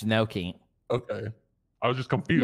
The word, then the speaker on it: gnocchi: Nikki, how would you really pronounce that one? Nochi? Nochi. Oh, Nochi. Stop. Fire. Stop. Noki? You said it like four times, and you still haven't said it right. It's Noki.